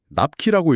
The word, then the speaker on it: NAPQI: 아세트 아미노펜이 우리 몸에 들어오면 간에서 대사가 되는데요.이 과정에서 아주 소량이지만 NAPQI 납키라고 읽기도 합니다.